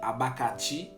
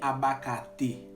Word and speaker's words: abacate: ok, abakati ou bien abakate. Ça peut dépendre comment on prononce, comment on peut entendre. Abakati ou bien abakate.